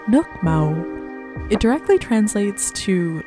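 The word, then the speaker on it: nước màu: make the caramelized sugar this in vietnamese is pronounced nukmo it directly translates to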